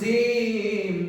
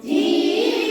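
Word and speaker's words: جيم: মাঝে শক্তভাবে আদায় হবে জিম জিহ্বার মাঝে শক্তভাবে আদায় হবে জিম জবর জা জিম জবর জা জিম জের জি জিম রে জি জিম পেশ জু জিম পেশ জু জা জি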